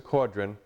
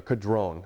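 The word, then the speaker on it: Caudron: Now Frank will call this a Quadrron uh throughout this entire interview, but it is actually a Kadron. That's how the French pronounce this.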